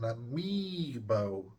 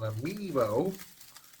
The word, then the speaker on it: amiibo: How do you pronounce this? It is called an amiibo.